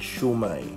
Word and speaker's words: shumai: Lately ko lang din nalaman na ang tamang pag-pronounce pala, ang tamang pangalan pala talaga ng siomai ay shumai. Ayon sa mga Chinese, ang tawag na rin dito ay shumai.